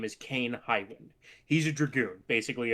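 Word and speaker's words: Kain: Oh, like Kane enable but with a K.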